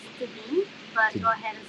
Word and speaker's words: Tedim: actually it's pronounced Tedim, but go ahead and say it the way Ah, you want to say it.